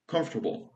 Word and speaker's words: comfortable: Więc nie mówimy comfortable, nie wymawiamy table w tym, po prostu mówimy comfortable. Comfortable. K o m f t a b u l.